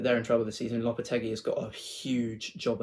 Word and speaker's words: Lopetegui: Julian Lopetegui, yeah, I pronounced it right now this time.